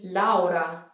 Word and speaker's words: Laura: not as harsh julia another one that we have in english is laura in italian this would be laura laura actually i haven't spoken